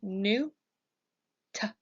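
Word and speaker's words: Nut: next we have Newt you can pronounce this name by saying new top Newt Newt is the sky goddess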